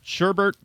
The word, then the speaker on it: sherbet: I always say sherbet even though I know there's not an E or an R. I mean, what the hell? There's no R in sherbet.